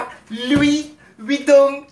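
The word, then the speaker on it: Louis Vuitton: อ่า กล่อง อ่า กระเป๋า ลุย วิง นะ คะ เขา อ่าน ว่า ลุย วิง นะ คะ โอเค ค่ะ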